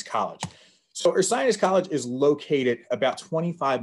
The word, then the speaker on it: Ursinus: we get asked a lot of how to pronounce the name so there it is right there once again that is earth science college so earth science college is located about 25 miles from philadelphia